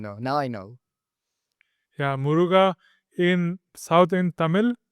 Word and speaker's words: Muruga: Yeah, Muruga in South in Tamil, it's the god Kartikeya. Murugan. Yes, that I know. Murugan, yeah, they call it Muruga also. Murga, but Yeah. not Murga. Muruga.